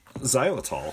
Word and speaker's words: xylitol: How do you pronounce that, Tim? Xylitol.